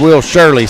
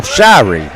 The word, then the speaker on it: Shirey: But I've been calling Will Shirey Will Shirley, so actually I've been getting the name wrong. So excuse me, any of our Richland, Linville listeners, Will Shirey buries both of those free throws.